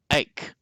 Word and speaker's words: ache: So please note the pronunciation is the k sound, ache.